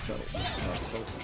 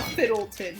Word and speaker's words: Felton: Which now I know his name is Tom Felton. And you almost said it wrong. Tom Yeah. Fiddleton.